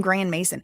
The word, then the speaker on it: Grandmaison: He just pronounced his name Grand Mason. So the way it's spelled is GRANDMAISON. So that's, I think, French spelling, but it's maison, which is like a house, a big house, a big one or whatever.